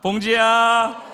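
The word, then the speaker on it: bom dia: 봉지야. 몽지예요. 할렐루야. 반갑습니다. 처음 인사 말을 배우는 우리 팀들이 좀 표현이 좀 이상하다. 음. 봉지를 얘기하는 건 아닌데. 근데 그렇게 하다 보면 오히려 쉽게 기억이 돼요. 봉지야.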